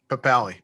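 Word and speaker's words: Papale: Papali.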